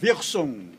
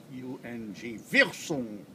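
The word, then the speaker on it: Wirsung: discovered by a German by the name of Wilson Capital w-i-r-s-u-n-g Wilson and the Italian got the little piece of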